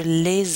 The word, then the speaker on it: les: No l'apostrophe here because the word is les, so we would say je les admire. We're just pronouncing this S now because of that vowel.